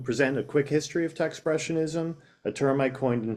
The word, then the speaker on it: Techspressionism: So a lot of people can't have a hard time pronouncing it and think it's Techspressionism, and I just tell people it's expressionism with a T, so just Techspressionism. I'll start with a little